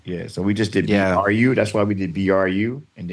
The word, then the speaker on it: Bru: Yeah, so we just did BRU. That's why we did BRU. And then Brothers was BRU. And it looks like bruh, but it's Bru Brothers.